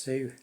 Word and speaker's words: Hsu: Mr. Sue, I'm guessing it's pronounced Sue, HSU, and others.